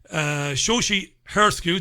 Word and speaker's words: Shoshi Hersku: That's a Shoshi Hersku. That's right. I pronounced that right.